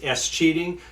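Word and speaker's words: escheat: to do this it's a process known as s cheating no not pronouncing the word cheating incorrectly ESC h-e-a-t for those of you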